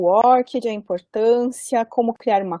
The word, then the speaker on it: ORCID: diferentes, né, esse nome, algumas falam ORCID, outras falam ORCID, eu assisti alguns vídeos da própria organização, tive uma conversa com a presidente do ORCID no ano passado, e a pronúncia certa, né, para quem se preocupa, né, com isso, é ORCID, tá certo?